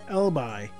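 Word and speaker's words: Elibe: The teachings of Emblem have the most followers in Elbi, or Elbibe. Yeah, Elbibe, I think that's the right way to say it. Okay, I think that's the right pronunciation, so hopefully I'll remember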